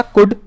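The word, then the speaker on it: could: कुड के अंदर हमारा एल साइलेंट था, कुड.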